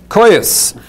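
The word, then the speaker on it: Koios: Oh, how do you pronounce that? Coyuse.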